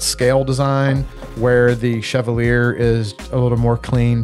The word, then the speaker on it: Chevalier: knives the first one this is the cogent and this one is the Chevalier I think is how you pronounce it both Micarta scales